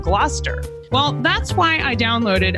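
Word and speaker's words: Gloucester: where Shakespeare was writing, I often mispronounced some of the words that you find in the plays. Like originally I said glalcaster instead of gluster.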